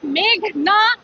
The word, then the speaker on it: মেঘনা: আদালতে এসে শুনি পিপি বলছেন মেঘলা আলম। আমার নাম মেঘনা আলম।